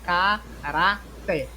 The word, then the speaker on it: caráter: Então, caráter é uma palavra paroxítona porque a sua segunda sílaba, da direita para a esquerda, da direita para a esquerda, ela é timbrada, ou ela é pronunciada, quando a gente fala, a gente pronuncia mais forte aqui a segunda sílaba.